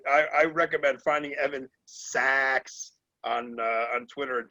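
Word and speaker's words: Saacks: sax but i guess he pronounces it sax because it's s-a-a-c-k-s and he did a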